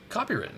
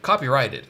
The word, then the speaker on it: copyrighted: That's why you can't see any other bourbon have Wax drips of wax because it's copywritten. It's copyrighted. I think is the correct way to say it.